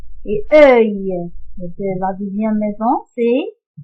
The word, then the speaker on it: œil: C'est œil. Et se prononce œil. Regardez, œil.